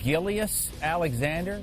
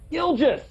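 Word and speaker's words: Gilgeous-Alexander: What'd you call Shea Gillius Alexander? Shea Gilligan's Alexander? Gilgis!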